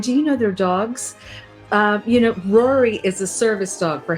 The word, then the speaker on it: Rory: Rory's 10. 10 years old. And these are 11. 11 years old. Golden Doodles, right? Golden Doodles. Minis. And speaking of Rory, it would rhyme with Tori, your wonderful Right.